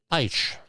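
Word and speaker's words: Beitsch: So, this is from The Hill by Rebecca B E I T S C H Eisch. I'm pronouncing it the German way.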